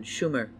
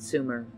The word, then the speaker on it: Sumer: akkad opert was correct with the exception of mispronouncing the name it should have been schumer not sumer sumer was not a